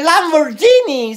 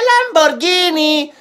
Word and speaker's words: Lamborghini: quieres otra se dice lamborghini se dice lamborghini guin guin y la parte china madre